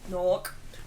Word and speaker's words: Newark: Newark. Do you pronounce it Newark or do you say Newark?